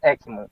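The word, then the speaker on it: Eckmann: Se pronuncia Ekman, meu.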